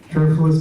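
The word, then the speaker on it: Cherfilus: Sheila Cherfulis? Yes. Cherfulis McCormick, yes.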